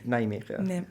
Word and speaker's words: Nijmegen: I don't want to say the name because I'm going to pronounce it wrong. It's Nijmegen.